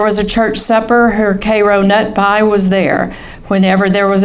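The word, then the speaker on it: Karo nut pie: And the proper pronunciation must have higher inflection on nut. Cairo nut pie.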